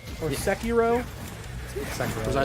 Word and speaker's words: Sekiro: Also, it's Sekiro or Sekiro.